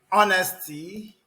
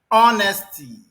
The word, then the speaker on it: honesty: The first letter H is silent.